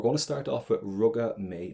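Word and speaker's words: Rugadh mé: to start off with ruga may now pronunciation wise you can just go as far as the letter A if you want and you can use this Roga May that's perfect and what I have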